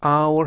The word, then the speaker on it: hour: 주의점은 이 문장에서 첫 글자가 h 자음이지만 h hour 할 때 h가 묵음이라서 첫 발음은 첫 글자는 h 자음이지만 첫 발음이 모음 hour 모음이기 때문에 어가 아니라 on을 꼭 써 주셔야 합니다.